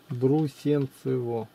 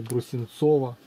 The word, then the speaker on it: Брусенцево: Брусенцево. Не Брусенцово.